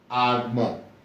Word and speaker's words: Agbon: Agbon. Agbon. Agbon should translate as life or existence. Life or existence. Alright. So in the word, you see B here, and you also pronounce it.